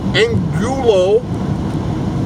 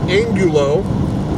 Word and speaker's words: Angulo: that the investigator Scott in Gulu I think that's how you say it his that last name is spelled a in G you Elmo Scott Angulo he was the investigator